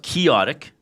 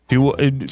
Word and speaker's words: quixotic: I think it's pronounced chaotic. No. Are you sure? I thought it was pronounced chaotic. Quixotic.